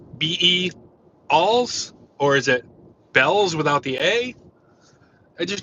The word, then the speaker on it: Bealls: e a l LS so from what I'm told from native Floridians it's just called Bells so where the hell is the a it's like isn't it Bealls or be s be something like that but no it's like they just call it bells and I don't understand